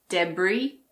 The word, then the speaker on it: debris: Some of the most common ones are aisle, bourgeois, debris, island, and aisle. Yes, the first word and the last word are pronounced the same.